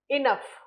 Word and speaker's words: enough: what happened that for example enough enough in this case GH is pronounced as F physics in this case